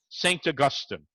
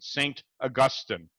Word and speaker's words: Augustine: of the church fathers, St. Augustine, I'm saying it with the British pronunciation, St. Augustine. If I were to say St. Augustine, you'd think that's where everybody from Highland Park goes during the winter.